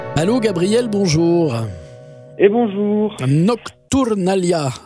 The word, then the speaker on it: Nocturnàlia: Gabriel bonjour et bonjour Nocturnalia c'est comme ça qu'il faut dire le titre de l'album Nocturnalia Nalia il y a un accent tonique qui est sur l'avant-dernière syllab c'est c'est voilà c'est du catalan c'est la nocturnale si